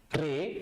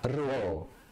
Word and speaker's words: ro: Number 1 is pronounced as G, and then number 2 is ro, not re but ro.